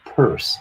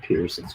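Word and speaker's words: Peirce: sander was terrell sanders purse i was saying his name wrong it's not pearson's purse charles w morris and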